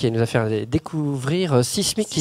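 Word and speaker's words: Cysmyk: amusant, c'est que Sismic a eu besoin lui-même de faire appel à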